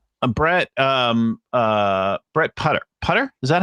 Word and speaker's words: Putter: to brett uh brett um uh brett putter putter is that how i pronounce it that's right that's right sounds like